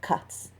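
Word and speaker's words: ghats: than six kilometres of cuts pronounced with a soft k on the western bank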